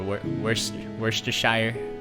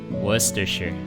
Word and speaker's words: Worcestershire: Worcestershire. Worcestershire. That's great. Worcestershire. Worcestershire, and then Worcestershire. Worcestershire. I like that. Not like oyster, more like Worcestershire. It's not Worcestershire, it's Worcestershire in it.